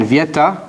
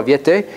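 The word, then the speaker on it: Viète: And a very important contribution by Frenchman Vieta, or sometimes pronounced Viete. I guess there's an accent here. Francois Viete, who was the leading mathematician of the 1500s.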